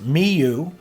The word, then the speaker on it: Miu: listening to this Trio Miu pronounced me you the bass player has